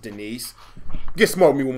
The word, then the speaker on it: Denise: Somebody, is there a D nice, sir? A D nice. It's pronounced Denise.